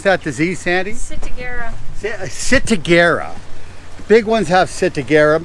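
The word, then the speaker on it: ciguatera: How do you pronounce that disease, Sandy? Sitagera.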